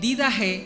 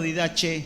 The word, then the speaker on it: Didaché: como usted lo escucha si se escribe en didajé o con docilidad de viaje o didaché unida che también algunos lo pronuncian bueno en este manual